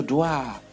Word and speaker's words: dois: You see, I told you that we don't pronounce the letters X, S, T, D. You don't pronounce them when they appear at the end of the.